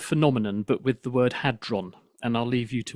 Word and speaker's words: Hadron: People accidentally muddle up the word so they get the R and the D in the wrong order and then it comes